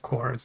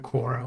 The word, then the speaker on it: Quara: I mispronounced Quara's name by calling her Quora when I should have called her Quara.